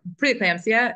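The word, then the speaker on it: preeclampsia: preclampsia or is it preclampsia how do you pronounce it I preclampsia is how is how I say it how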